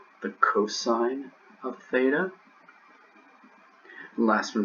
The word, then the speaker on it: cos: of theta the next one is called the cosine of theta the last one is called the